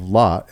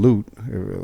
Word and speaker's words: Lot: um in in in the book of lot and loot dep depending on how you pronounce it um that's in the